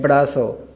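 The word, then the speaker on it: brazo: बी ये तो बे की आवाज़ दे रहा है। आर और ए ये एडे की और अलिफ की आवाज़ देगा बड़ा, बड़ा। और जेड और ओ, जेड सीन की आवाज़ देता है और जब ओ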